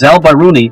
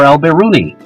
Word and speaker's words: al-Biruni: mind known as alboni often pronounced both as alboni or alberuni he passed away in